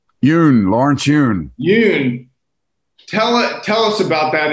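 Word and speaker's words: Yun: Lawrence Yoon.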